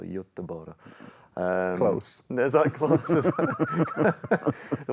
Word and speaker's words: Göteborg: Actually, I got a pronunciation lesson as well from Fanny Sunesson, so Göteborg.